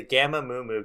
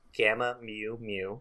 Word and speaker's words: Gamma Mu Mu: the head of the Gamma Moomu gang forgot that was their name. First of all, it's pronounced gamma mu mu, not moo.